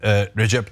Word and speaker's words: Recep: You see, Ana said Recep Tayyip Erdoğan because the C is pronounced like a J.